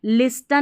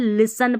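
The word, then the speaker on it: listen: अब देखिए इसको भी लिस्टन नहीं पढ़ना है। यहां पर एस टी इ एन जब भी साथ में रहता है ना टी साइलेंट रहता है। लिसन पढ़ना है।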